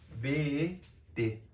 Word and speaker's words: Bet: O Bet se escreve como se fala, B-E-T. Bet.